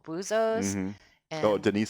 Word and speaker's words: Buzos: And Buzos is spelled B-U-Z-O apostrophe S. Buzos, which means divers. Yes. Possessive. Yes. Not boozers, as in drinkers.